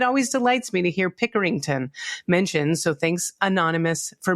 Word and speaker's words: Pickerington: It's Pickerington. Exactly how it's spelled and my hometown.